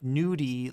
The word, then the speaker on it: Nudie: It does sound just like nudie like as if nude e.